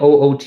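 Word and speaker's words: août: this is ground handling oot is how it's pronounced weirdly this breaks the pronounciation rule of not pronouncing final consonants French is also notorious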